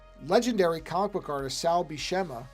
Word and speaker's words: Buscema: One of the legendary comic book artists, Sal Buscema, I think that's how you're supposed to pronounce it, Buscema, just died.